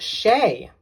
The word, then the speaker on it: Che: So the final one is Shay or Che. We shall see how to pronounce that.